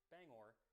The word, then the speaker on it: Bangor: of song explaining that it is pronounced Bangor, not Banger.